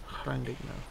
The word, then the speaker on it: Llandudno: Llandudno, is that how you pronounced it? That's right, Blue. Llandudno.